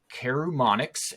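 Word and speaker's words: Karumonix: The Rat King is Carumonix, and that's 100% how it's pronounced, the Rat King.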